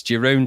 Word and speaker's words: Jeroen: It's Jeroen Tell from the Maniacs of Noise.